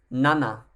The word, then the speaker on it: nana: number six is roku number seven is nana similar to how you'd say the back end of the word banana uh the eighth player